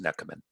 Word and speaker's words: Nechamen: pronounce my name it's if you turn the k the h into a k you'll get it right it's pronounced neckerman so we'll start out